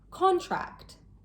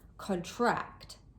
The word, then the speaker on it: contract: As a noun, contract. The stress is placed on the first syllable. As a verb, contract. on the second syllable.